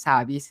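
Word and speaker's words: サービス: Se pronuncia en japonés savis, aunque service, ¿no? El servicio, ¿no?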